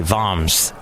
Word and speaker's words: Worms: It was in the town of, it's spelt like worms, but I think they say Worms.